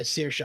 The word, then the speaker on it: Saoirse: Yeah, Saoirse.